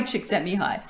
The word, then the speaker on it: Csikszentmihalyi: And I just learned how to pronounce it properly. Mihai Csikszentmihalyi.